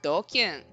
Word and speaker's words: DQN: DQN is Japanese net slang pronounced doking.